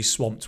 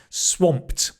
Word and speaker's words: swamped: I'm going to be swamped with emails and so on. Remember that trick. Just change the tense and make it into a full sentence. Even better practice. Swamped. Pronunciation. Swamp. Swamp. Swamped. Swamped. I'm swamped.